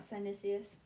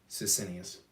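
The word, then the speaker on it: Sisinnius: Oh, it's not Sinicius. Sicinius. Sinicius? Sicinius. Like Sicinius. how it's spelled.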